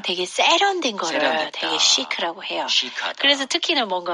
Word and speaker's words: chic: 아, 그게 한국에서도 시크하다 이렇게 쓰기는 하는데, CH인데 chic이라고 하지 않네요. 네, SH 발음으로 아, 해주셔야 돼요. chic, 그렇죠.